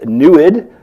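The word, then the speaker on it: NEID: their winning proposal is newid they pronounce it that way because it's apparently a Native American word that actually you know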